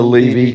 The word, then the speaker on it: Levy: It's actually Levy, though.